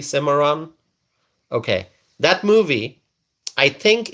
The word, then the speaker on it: Cimarron: Stallion of the Cimarron. Am I pronouncing it correctly? Cimarron?